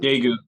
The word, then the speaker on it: Daegu: it's called The Black Traveler's Guide to how you pronounce it? Daegu? Daegu, Daegu, South Daegu.